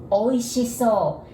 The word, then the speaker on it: おいしそう: And so you can memorize it like oysters, oi, and she, sh. So, like so good, oishiso.